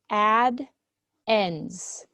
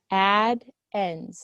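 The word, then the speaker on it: addends: These two numbers are called add ends. Add ends is how you say that word.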